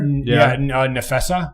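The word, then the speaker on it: Napheesa: From the Lynx, Collier, Nefessa, I believe is how you say it for Nefessa she Collier.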